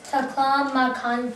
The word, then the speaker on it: Taklamakan: So this word how you pronounce is Gobi, and the other word is Taklamakan Desert.